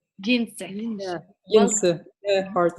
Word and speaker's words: Jens: How do you say your name, first of all? Jinse. Jinse.